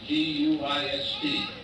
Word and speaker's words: Guist: And the guy's name was G-U-I-S-T. They pronounced it Guist.